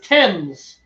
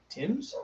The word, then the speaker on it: Thames: It's Thames. Tim's? Thames. Like Tim's, but with an E.